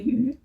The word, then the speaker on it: Yu: So I wanted to make the Prospect Tee by Tori Yu, or Tori Yu as it's also pronounced. Although I have to say the syllable YU in Chinese is actually Yu, but because she's American